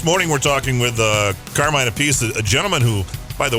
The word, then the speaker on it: Appice: Not Appice, but Appice. He's got Rod Stewart to thank for that mispronunciation thing there.